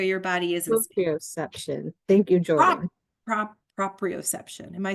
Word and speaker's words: proprioception: ROT worked a lot with her on her perioception.